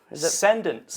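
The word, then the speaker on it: Cendence: Cedence. The Cedence. Like Ascension.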